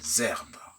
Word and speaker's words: herbe: régulièrement retrouvés dans les herbes. H de herbe est un H muet, raison pour laquelle on fait la liaison.